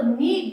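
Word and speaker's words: knead: साथ के साथ में कि एन से पहले यदि के आता है तो वो हमेशा साइलेंट रहता है उसी का एग्जांपल के एनड तो हम इसको साइलेंट रख के नो बोलते हैं ठीक है तो नीड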